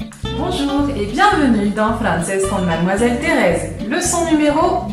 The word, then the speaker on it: français: O o la U, notifica que se pronuncia S y no que. Por ejemplo, en la palabra français, francés. Vamos a repetir cada letra una vez sola y una vez en grupo.